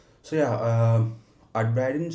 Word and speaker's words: Uitbreiden: So yeah um Adiden so at Brighten okay that's how you pronounce it so it's basically expand in uh Dutch so I'm uh in